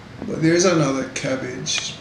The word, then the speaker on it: CABG: as corned beef and cabbage. But there's another cabbage, pronounced the same way but spelled differently.